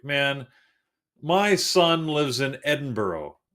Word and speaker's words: Edinburgh: It's Edinburgh. That's how it's spelt.